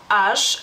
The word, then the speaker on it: aš: Como pueden ver, se escribe con la S que tiene una como palomita, digamos así, y se pronuncia esa letra sh, Aš.